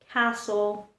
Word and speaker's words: castle: T remains silent in words like listen, castle, ballet, or soften.